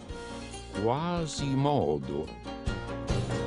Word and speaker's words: Quasimodo: Ma finché rimasi in Sicilia, l'accento del mio nome cadde sulla penultima O. Quasimodo.